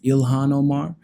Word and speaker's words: Ilhan Omar: I've been pronouncing her name wrong this whole time, apparently. My bad. I don't like pronouncing people's names wrong, so I wanted to get that right. So her name is apparently pronounced Ilhan Omar.